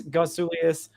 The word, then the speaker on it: Gotsulias: danger i'm joined by a special guest gosulius of locked on yankees actually pronounced your name right this time i've been